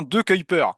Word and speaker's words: De Cuyper: Et on dit bien De Cuyper.